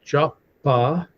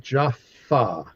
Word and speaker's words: Jaffa: Jaffa wondering, yeah, so the the letter P and the letter F in Hebrew are the same letter. Okay. The only difference is if it has a dot in the middle of the letter, it's pronounced P like a P.